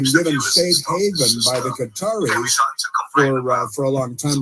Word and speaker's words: Qatar: In Qatar, which is pronounced Qatar and not gut or gutter, it's Qatar because